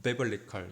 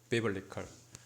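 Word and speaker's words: biblical: 그 스페인어는 조금 다른데 영어 같은 경우는 글자 대로 발음이 안 되죠 그래서 이것은 쓰는 것은 어 빠이 블 리 퀄 이렇게 썼지만 발 발음은 베벌리 칼 이렇게 되요 베벌리 컬 그래서 더 밸리 클스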